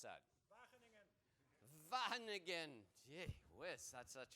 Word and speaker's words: Wageningen: Now, tell me how to really pronounce that. Wageningen.